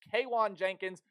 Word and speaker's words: Kwan Jenkins: Kwan Jenkins no not Keon or Kon it's Kwan Jenkins and he is a